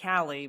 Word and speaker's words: Kali: That's the name of my daughter, although we pronounce it Callie, but it's spelled Kali.